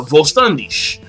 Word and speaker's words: Vollständig: as they say uh Volandish and and that's actually the German pronunciation but like the thing about it is is that I was genuinely surprised.